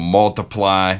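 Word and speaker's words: ×: you talked about ed his album multiply which is how it's pronounced i thought it was x all these yeah i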